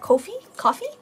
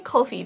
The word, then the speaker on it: Ko-fi: I say Ko-fi because I guess that's how we would read it phonetically in Japanese, but I guess it's coffee.